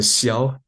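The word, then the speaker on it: 箫: And then the second type of Chinese flute is the shiao x i ao xia the first tone.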